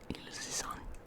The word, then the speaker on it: Ilse Sand: It's by a Danish writer called Ilse Sand. That's the Swedish pronunciation of her name. I don't know how you would pronounce that in Danish. Ilse Sand.